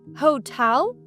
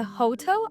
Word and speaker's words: hotel: Hotel не Hotel, а hotel. Наголос на другий склад.